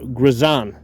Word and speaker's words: Girsan: millimeter from I believe the company's name is pronounced uh grizan yeah okay so this